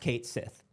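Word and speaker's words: Cait Sith: Kate Sith is pronounced Kate Sith.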